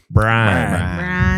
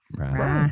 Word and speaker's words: Brian: Brian. Brian. Brian. Yeah. One syllable. Brian.